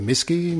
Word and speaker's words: MSCI: can't you that's right it's known as the miski yeah misky is that a lot of people pronounce it that way it originally stood for